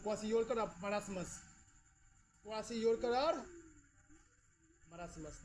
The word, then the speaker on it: kwashiorkor: KWA, क्वासियोरकर spelling के है silent, KWASHIORKOR। देखो इसको देखो, बताओ कौन बीमारी हो गया बोलो?